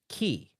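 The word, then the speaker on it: χ: And the X in this instance sounds like key.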